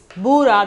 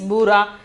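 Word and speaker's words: भूरा: Then the sixth one is bura. The pronunciation is bura.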